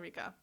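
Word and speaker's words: Ryka: wasn't sure if it was Rika. It's definitely Rika.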